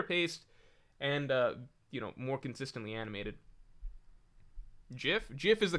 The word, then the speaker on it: GIF: GIF is the correct way to say it.